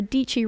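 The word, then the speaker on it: Dietschy: my name is deechi rhymes with peachy if if you're new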